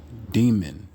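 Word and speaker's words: δαίμων: Daimon. That's what it's pronounced as.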